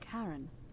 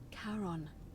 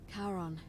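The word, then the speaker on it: Charon: it's just as you described it only your pronunciation is a little off the name you heard wasn't karen it was c h o o n as in caron the ferryman of the dead karon who in exchange for the right coin helps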